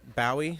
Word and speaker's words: Bowie: That's your David Bowie, your Bowie song? That is indeed. Your John Ross Bowie song? Well, I'm pretty sure it's pronounced Bowie. Everybody just said Bowie, like the knife.